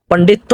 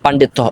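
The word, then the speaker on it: পাণ্ডিত্য: আপনি আরবি ভাষায় খুবই পান্ডিত্য অর্জন করেছেন পান্ডিত্য অর্জন করেছেন পন্ডিত এটা ভুল পান্ডিত্য উচ্চারণ হবে যাই হোক আমরা এখন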